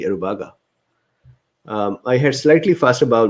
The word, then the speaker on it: Aruba: really scary aruba so aruba i was actually pronouncing correctly aruba i had slightly fast about movement the first